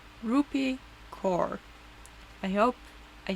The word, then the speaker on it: Rupi Kaur: Rupi Kaur.